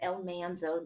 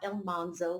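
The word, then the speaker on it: Almanzo: between el Manzo and is El Manzo not El monzo like the show pronounces it he says that Laura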